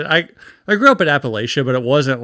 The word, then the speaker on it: Appalachia: Damn Bill know how to pronounce it's Appalachia.